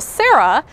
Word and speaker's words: Sarah: renau agreed and made the sarah rhymes with zara to accommodate those requests